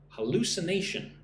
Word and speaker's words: hallucination: Hallucination. Listen and repeat. Right? Say that after me. Hu. So, five syllables. Hallucination.